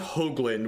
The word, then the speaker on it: Hoagland: My last name is pronounced Hoagland with a long O sound.